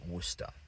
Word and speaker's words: Worcester: And again, you're going over this word in your head and reasonably enough, you think wood. No, no, no, no, no, no. That is just wor.